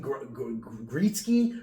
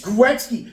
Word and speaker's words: Gretzky: Like when you mispronounce things Wayne Gretzky mispronounce it perfectly and they're like, "Oh, Wayne Gitzky." And everyone it's Gretzky.